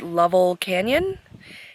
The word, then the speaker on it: Lovell Canyon: Camp I'm here in I think it's pronounced level Canyon it's a little bit